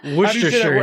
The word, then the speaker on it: Worcestershire: Yeah, Worcestershire is how we say it.